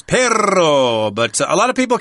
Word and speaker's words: perro: called ton ton okay when you have two RS in espanol you need to roll those RS I like a dog the word for dog in Spanish is perro but a lot of